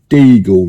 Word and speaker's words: Deagel: that's something called the deagle report uh spelled like beagle the dog but with a d for Delta in front and it came out I